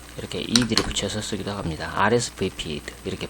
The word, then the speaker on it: RSVP: RSVP 이렇게 발음하죠.